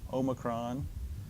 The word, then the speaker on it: Omicron: a lot of debate I pronounce it as a short o Omicron there's going to be